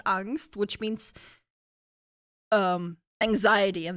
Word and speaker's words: Angst: English word because that's a German word which is pronounced angst which means um anxiety